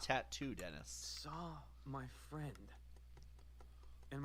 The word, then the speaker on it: tatau: It's pronounced tattoo, Dennis.